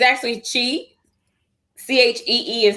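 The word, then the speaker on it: Chee: website is the the name is it's actually chi c-h-e-e is how you pronounce it it's um for wellness nature and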